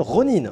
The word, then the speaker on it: ronin: vidéo indépendant qui s'appelle ronin attention ça se prononce ronin pour les puristes ok peut prononcer rhône on en voudra pas nous faire la française mais voilà on le dit ronin doc ronin bah écoutes